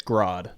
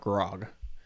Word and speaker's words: Grodd: Just so you know, it's Grodd, not Grog. Oh, I'm saying it wrong.